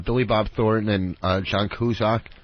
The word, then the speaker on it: Cusack: It was with Billy Bob Thornton and John Cusack. Kuzak or whatever the fuck. That's how it's pronounced in some countries. Before they came to America, it was Kuzak.